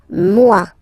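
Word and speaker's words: moi: so it's me so remember this o e combination give you the sound MUA okay and then you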